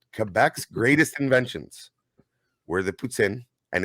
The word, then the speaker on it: poutine: Fun fact, Quebec's greatest inventions were the poutine, and it is pronounced poutine, not poutine.